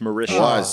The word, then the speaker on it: Mauritius: It's pronounced Mauritius.